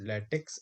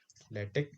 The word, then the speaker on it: LaTeX: actually pronounced as a lattice and tech maker because in in latex this is not x this is a greek letter chi we pronounce it k so this is not